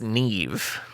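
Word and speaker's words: Niamh: But I mean the the actress's name because it's Irish is pronounced nev.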